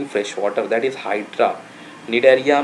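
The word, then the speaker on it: Cnidaria: निडेरिया यहाँ पर सी silent होता है, दिस इज निडेरिया।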